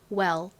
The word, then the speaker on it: well: 이 L을 발음할 때 주의하셔야 되는 부분은 L은 R과 다르게 발음을 할 때 혀를 앞니 뒤쪽에 붙였다가 떼면서 L 이렇게 발음을 합니다. 그래서 이 WEL를 발음해보면 well 이렇게 발음이 돼요.